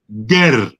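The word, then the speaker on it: Geh: people in that region was called Ger, G-E-H. That's how it was spelt. That's how more or less they pronounced it.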